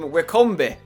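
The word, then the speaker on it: Wycombe: him so much however he pronounces them W Combe which I quite like instead of Wickam is W Combe I don't know if he did it on purpose if it was a joke or if he just thinks that's how you say it I mean there's nothing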